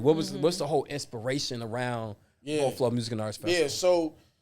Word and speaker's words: Beau Fleuve: I was like, Avi, it's Beau. It's like Boflo. That's how you say it phonetically. You know what I mean? Beau Fleuve.